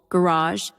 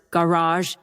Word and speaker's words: garage: Like garage. We mentioned Americans often stress the second syllable garage. Brits the first garage or address.